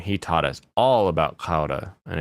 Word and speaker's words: Gouda: It's a D, not a T. What? Gouda? That's a D. I don't know what you want from me. A man from the Netherlands taught me how to say it when I was a young boy. Now I say it like he taught me.